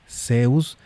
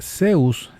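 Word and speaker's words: Ζεύς: El nombre Zeus en griego comienza no con un sigma, sino con una Z que escribe en mayúsculas como Z. Tiene el sonido no de la Z en español, sino como la letra en inglés.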